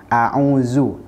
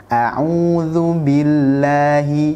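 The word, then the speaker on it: أعوذ: juga harus kita perhatikan lafal isti'adzah menggunakan huruf z bukan menggunakan huruf Zain itu adalah kesalahan yang sering kita dapatkan jadi pastikan dah lu zalzil u zelf itu memiliki makhraj diujung lidah bertemu dengan gigi seri atas Hai jadi usahakan jangan sampai membacanya mirip dengan huruf Zain a'udzu Nah itu adalah cara baca yang salah yang benar adalah a Ulu audzubillahi Billahi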